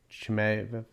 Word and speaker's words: Chimaev: Chimaev? The Russian. Chimaev? Yeah. Chimaev.